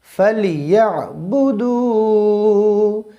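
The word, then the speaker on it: فَلْيَعْبُدُوا: আচ্ছা, এরপরে ফালিয়াবুদু ফালিয়াবুদু বললে কিন্তু হবে না, এখানে ইয়া গিয়ে আইনকে ধরছে। আইন আমরা জানি কন্টিনিউয়ালি মধ্য থেকে উচ্চারণ হবে। ফালিয়া ফালিয়া ফালিয়া। আচ্ছা, ফালিয়া বুদু, দালের ডাল টেনে পড়তে হবে, কারণ দালের উপর পেশ রয়েছে, পেশের বাম পাশে যজমান ওয়াও থাকলে টেনে পড়তে হয়।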